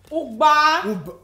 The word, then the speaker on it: Ugba: Ugba.